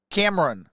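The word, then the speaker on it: Camerun: it can run camera Cam Cameron like Cameron but it's spelled like cam it's spelled c-a-m-e-r-u-n peoples I think will love us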